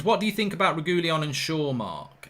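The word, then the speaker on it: Reguilón: Red Carter says it's pronounced Reguilon.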